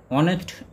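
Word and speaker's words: honest: বারো নম্বরে বলছে একটি সৎ বালক, সৎ ইংরেজি অনেস্ট, অনেস্ট ওয়ার্ডটি এইচ দিয়ে শুরু হলেও এর উচ্চারণটি অ, অর্থাৎ ভাওয়েল সাউন্ড আসছে, তাই এখানে প্রথমে বসবে অ্যান অনেস্ট বালক ইংরেজি বয়।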